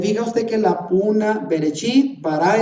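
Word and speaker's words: בראשית: En esas 7 palabras dice Bereshit, Bara, Elohim, Et, que es la palabra que no traduce, et ha-chamayim beet ha-aretz. Así se pronuncia eso en hebreo. Pero se fija usted que la puna, berechit, bara Elohim, son palabra 1, 2, 3.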